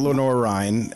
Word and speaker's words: Lenoir-Rhyne: You ended up at Lenoir-Rhyne, and I'm probably pronouncing that wrong too, but you were...